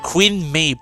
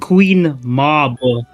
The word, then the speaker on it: Queen Mab: Queen Mabe.